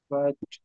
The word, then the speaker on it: الفتح: এখানে দুইটা হরফে জজম আসছে, তো এখানে তা এবং হা উভয়টা উচ্চারণই আমাদের করতে হবে। তো এটা হবে এরকম: ফাত, ফাত ফাত, ফাত।